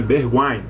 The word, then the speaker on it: Bergwijn: caso aqui o Bergwijn, eu falei Bergwijn, né? Bergwijn, é como se pronuncia esse IJ, tem som de A lá na língua nativa deles.